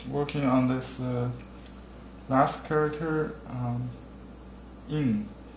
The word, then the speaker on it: 印: Alright, I'm working on this last character, in. It's same in Chinese and Japanese pronounced similarly. In means seal.